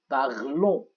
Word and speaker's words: parlons: لاحظوا اللفظ nous parlons. إذن ال n ال s لا تلفظ.